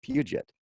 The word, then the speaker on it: Puget: a lot of people have trouble with the pronunciation there but it's Puget ok a great part of our website of